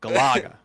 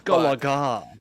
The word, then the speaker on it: Galaga: The inflection is on the la. Galaga. Galaga. Wingardium Leviosa. Galaga. It's Galaga.